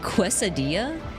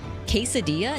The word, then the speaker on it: quesadilla: Do you also say quadilla? Quesadilla. No, I know how to pronounce that one.